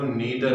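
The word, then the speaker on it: neither: move on rule number 4, तो हमारा rule number 4 है कि अगर कहीं भी आपको नीदर ऑफ, या इसे ऐसे भी प्रोनाउंस करते हैं नाइदर ऑफ, अगर कहीं भी नाइदर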